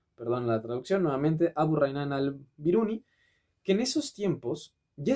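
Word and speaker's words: Abu Rayhan al-Biruni: de hecho hay un nombre, digo, no quiero pronunciarlo mal, que es Abu Raynan al-Biruni, perdón la traducción nuevamente, Abu Raynan al-Biruni, que en esos tiempos ya estaba calculando el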